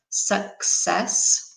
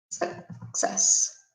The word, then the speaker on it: success: some pronunciation remember that this word here is pronounced success okay we try and write phonetically how you would say it remember that in English CC is a sex sound so the sound is success okay nice Francesca the patent is in fact